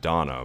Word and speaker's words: Dana: on top of that now you have donna but it's spelled dana i guess they could